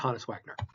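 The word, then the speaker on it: Honus Wagner: for which is the care oh and it's pronounced hanis Wagner so what is carbon dioxide carbon dioxide is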